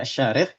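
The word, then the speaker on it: Asy-Syarikh: Bukan ini bukan Asarikh bacanya tapi Asyarikh.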